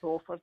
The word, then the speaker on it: Beaufort: Is that how you pronounce it? Yes, that's it. Yeah, Beaufort in Kerry.